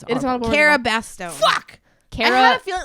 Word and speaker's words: Cara Bastone: Cara Bastone. Fuck. I had Cara, a feeling that was in my head. I just didn't want to say it and you get said it wrong. Cara Bastone.